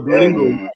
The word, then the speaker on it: Duolingo: So a couple of schools in the UK right now are already using, I don't know how to pronounce that, is it Duolingo? That language. Oh, Duolingo.